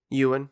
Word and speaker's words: Ewan: strongly about this um uh oh uh uh aaron mcgregor being um did i pronounce his name right ewan you and ewan mcgregor as obi-wan and the